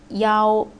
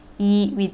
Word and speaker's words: 幺: Next one, last case of E, we pronounce it as Yao. When you say about the number of password, Wi-Fi password, or your telephone number, we don't say E, we say Yao.